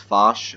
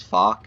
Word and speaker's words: Foch: This tank is pronounced Foch. I know a lot of people think it's Foch. It is a French pronunciation as Foch, so that is a bit of a little pointer.